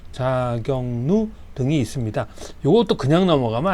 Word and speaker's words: 자격루: 츠구기 자격루 자경 경 그 뭐 경기도 할 때 경 그 경이에 발음이 자경누 누구 할 때 누가 누가 왔어 누누 누 자경누 등이 있습니다.